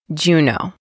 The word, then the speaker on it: Juneau: Juneau. It sounds like, did you know?